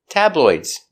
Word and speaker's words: tabloid: true tabloids are Sensational pronunciation tabloids t a t b tab l t it's a light L the tongue's in the front t o tabloid D tabloid if it's one tabloid use a stop D tabloid stop tabloid